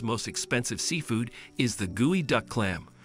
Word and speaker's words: geoduck: Last but certainly not least on our list of the world's most expensive seafood is the gooey duck clam, pronounced gooey duck.